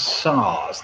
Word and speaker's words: SARS: And final number 10, of course, was SARS, the SARS virus, which rhymes with Mars, of course.